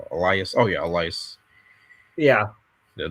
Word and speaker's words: Elias: Elias.